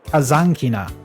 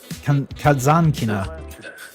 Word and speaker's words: Kazankina: Well, in the commentary apparently the pronunciation is Kazankina Tatiana Kazankina.